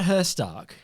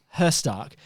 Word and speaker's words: Herzstark: cut her Stark knew that the net was that how you pronounce his name Kurt her Stark how's it spilled h-e-r-z-s-t-r-k knew that the net